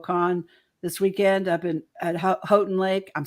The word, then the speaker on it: Houghton: I was saying Houghton, and they're like, "Don't say Houghton, it's Houghton." I'm like, "Okay, okay." And I was at Houghton Lake.